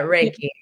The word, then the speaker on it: Reiki: Reiki? Yeah, Reiki.